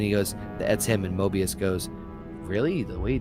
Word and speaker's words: Mobius: Shit, not Morbius. MODOK? No. Mobius. Mobius. Jesus. Drop the R, the hard R.